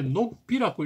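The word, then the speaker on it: 鹿皮: 높이인데 우리말로는 읽을 때 녹비라고 읽는다 하네요 녹비 그래서 이제 사슴 가죽은 쓰기는 높이라고 쓰지만 읽을 때는 녹비 자 그래서 녹비의 가로왈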